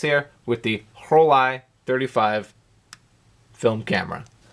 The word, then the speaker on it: Rollei: s here with the whole i-35 film camera I have heard the brand name pronounced several different ways Rolly Rolly but it's German right so it should be whole I this is one of